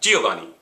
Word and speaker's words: Giovanni: I have a J-E, hard E, G, hard O, O, soft O, va, like in not or mop or ah, all right? And then ni, hard E, Giovanni.